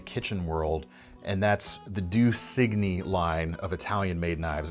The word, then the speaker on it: Due Cigni: world, and that's the Due Signi line of Italian-made knives. And actually, proper Italian pronunciation, this would be Due Cini. My Italian friends out there can let me know if I'm doing that right.